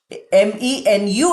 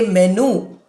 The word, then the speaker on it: menu: MENU is written. We don't say menu. We say menu. Ear sound is not written, but it is pronounced.